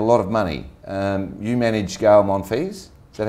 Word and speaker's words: Gael Monfils: You manage Gael Monfils, is that how you pronounce it?